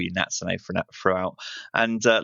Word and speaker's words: Natsune: you um so firstly have i pronounced your name right natsune is that correct oh yeah wow i'm